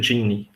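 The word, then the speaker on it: Geany: Mas geralmente a pronúncia é Gini, tá?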